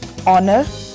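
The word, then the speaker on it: honour: silent है और घंटा ओनर सम्मान इसमें ह साइलेंट है नाक यानी खटखटाना इसमें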